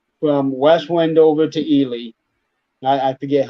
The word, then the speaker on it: Ely: window and it goes to ely either or eli it's it's e-l-y but jennifer might know the correct pronunciation but but 93 goes down to ely and then it crosses 50.